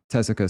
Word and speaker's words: Tessica: Tessica, spelled like Jessica, but with a T.